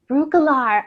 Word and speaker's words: Breukelaar: Pronounce your last name. Breukelaar? Breukelaar.